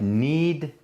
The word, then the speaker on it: knead: of one side that's like n-e-e-d you like knead the bread like you okay I've got a k at the beginning always got a key that's a silent k like the right look